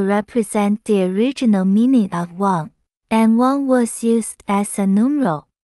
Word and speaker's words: 万: Read Wan above. Wang is also pronounced Mo, which is used to compound the surname Wang Qi. There is no traditional character form when Wang is read as Mo.